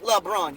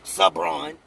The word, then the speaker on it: LeBron: home get his name right it's LeBron you said it right the first time don't say it wrong the second and the third and the fourth ain't no sabron what are you trying to blend their names and make this something